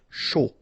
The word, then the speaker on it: chaud: Final D not pronounced, and then when you combine this C and H, you get the sh sound. A and U, O. Chaud.